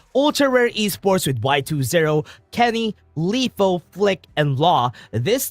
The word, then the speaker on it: Kenny: Kenny rhymes with carry, so it is expected for Ultra Rare Esports.